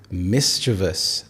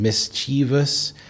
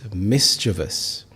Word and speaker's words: mischievous: It is mischievous. There are three syllables. Mischievous. Here, a common mistake is to pronounce the e sound as in mischievous. But no, it's mischievous.